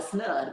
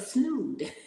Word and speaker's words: snood: broke that down because I call it a snug but it's a snood my snood is my